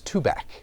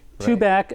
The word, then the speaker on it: Tubac: of Nogales on I 19 and the correct pronunciation is to back to back and it's been a subject of conversation for decades but it is too bad got it and of course again like I